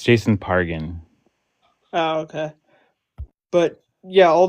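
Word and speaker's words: Jason Pargin: in a massacre, and Quit saying his name wrong. It's Jason Pargan.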